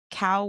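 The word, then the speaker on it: Kaoh: Um, for y'all in the in the comments, it's spelled K A O H. Cow, but it's co.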